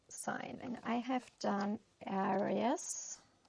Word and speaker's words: Aries: And I have done aries. Iris, how it's pronounced in English.